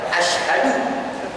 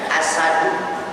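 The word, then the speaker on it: أشهد: Asyhadu artinya saya bersaksi. Tapi berapa banyak kita yang mengucapkannya dientengkan, diringankan, asadu. Ketika membacanya asadu, maka punya arti singa. Pun ketika kita membacanya asyadu, bener shin, tapi tidak ada ha di tengahnya, maka mempunyai arti lebih berat. Asyadu lebih berat.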